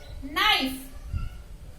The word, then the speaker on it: knife: See, knife. Here, K is a silent letter.